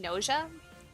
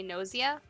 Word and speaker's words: Gnosia: I've been saying nausea, but I heard somebody else say nausea. It's Gnosia is how it's spelled.